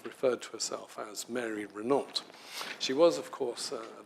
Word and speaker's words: Renault: strong woman namely uh Mary Reena and that by the way is how I believe she pronounced this um n de plume Mary Renault if you read David sweetman's biography I hadn't known this before I'd always called her Mary Rena um she allegedly called